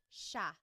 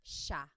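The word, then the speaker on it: siya: It looks like it should be pronounced sea, but it's actually pronounced sha sha.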